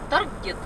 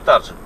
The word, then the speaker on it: Target: две недели в этот Таргет. Таргет. Таргет. Ну, в общем, по привычке из Белоруссии и по правилам как бы надо прочитать таржет. Но это слово исключение, оно читается таргет.